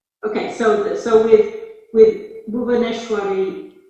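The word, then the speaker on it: भुवनेश्वरी: so so with with bhuvaneshwari it's re at the end not just bhuvaneshwar e actually in the devanagari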